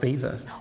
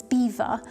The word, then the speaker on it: Belvoir: So, to me it seems it's spelt Belvoir but pronounced Beaver.